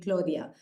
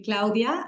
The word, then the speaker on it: Claudia: years so a lot of people call me Claudia but if you want to be a purist it would be Claudia and the surname would be pronounced in